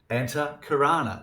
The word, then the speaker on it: Antahkarana: A-N-T-A-H, Anta, means inner. A-N-T-A-H, Anta, it means inner. And then Karana, K-A-R-A-N-A, it means instrument. So there we have the inner instrument. Antahkarana, the inner instrument.